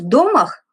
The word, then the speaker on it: домах: А в домах, ударение на первый слог он делал, Данилов говорил, что в домах с вот такой крышей